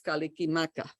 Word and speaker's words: Kalikimaka: at this example so hawaiian has no syllable final consonants no consonants at the end of syllables they don't have any consonant clusters at the beginning of a syllable they can't have two consonants just one so when christmas was